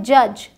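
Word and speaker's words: judge: एक साथ है तो यहां डी साइलेंट होता है यह है जज ग्रज ब्रिज पॉरिज ठीक यहां डी का कोई साउंड नहीं अब आते है साइलेंट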